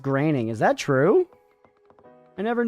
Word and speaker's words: Groening: Groening is pronounced graining.